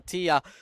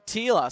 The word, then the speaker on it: Aila: Meanwhile, Aillaa on uh or is it Aila? I'm sorry if I'm getting your name wrong. And yes, that's Aila.